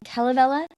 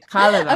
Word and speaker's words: Kalevala: I'm pronouncing it Kalevala, and you're saying Kalevala? You're absolutely right, because I just said the stress is always on the first vowel. So you're absolutely right. The Kalevala.